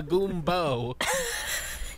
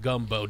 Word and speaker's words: gumbo: First you must take your magical item and control someone who knows how to make a goombo. Master Merrick, it's pronounced gumbo.